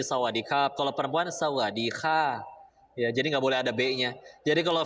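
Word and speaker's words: สวัสดีครับ: kalau laki-laki belakangnya ada sebetulnya ada huruf RO nya sih di situ jadi kerap gitu ya tapi mereka bacanya cepet Jadi sawadikap kalau perempuan sawah Jadi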